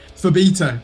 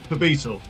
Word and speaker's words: Phobetor: If you remember the B syllable, the rest kind of just fits.